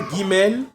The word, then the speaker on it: Gimel: comme guor comme guerrier donc quand tu vois Guimel vois ça comme G comme Gor notre alphabet donc gu le son g ok alors répte